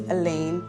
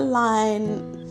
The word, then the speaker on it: Aline: For a lot of people that don't know how to say my name, my name is Alen, not a line.